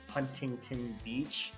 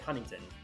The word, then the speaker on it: Huntington Beach: lazy Southern California draw we don't pronounce the t's in a lot of stuff so you would never never say like Monterey or Huntington Beach it's like Monterey honey